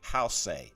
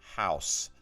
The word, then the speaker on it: house: the same construction but you don't say house a it's house and i hear a